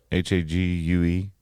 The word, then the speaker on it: Hague: During their journey from England to the Hague, I think that's how you pronounce that? Hague?